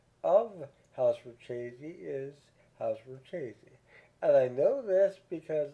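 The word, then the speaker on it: Richese: chesy and house Karina now I'm going to pronounce house for chesy as house for chesy despite several people doing reviews on YouTube who pronounced incorrectly the correct pronunciation of house foresy is house foresy and I know this because I listened to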